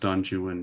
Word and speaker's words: Don Juan: He has this long epic poem called Don Juan, based on the sort of Don Juan legend, said pronounced Don Juan because of the way English meter works.